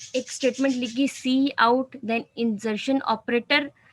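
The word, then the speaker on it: cout: सी आउट, इसको pronounce किया जाता है सी आउट।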